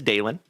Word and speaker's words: Dalen: But if you are new here tonight, my friends, keep in mind that my name is Dalen. D A L E N, like Dale plus N.